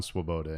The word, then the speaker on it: Svoboda: not the same it's it's not pronounced the same no no but how that's how I pronounce it when I'm on the phone because if you lead with um the s in the v it just confuses everybody feeling anyway yeah so